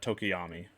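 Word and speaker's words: Tokoyami: uh without further ado I don't think I pronounced that right uh tokiyami foreign that's how you pronounce it how to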